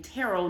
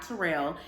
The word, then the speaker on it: Terrell: Owens I believe it's I think he clarified that he pronounces his name Terell not Terrell um he was the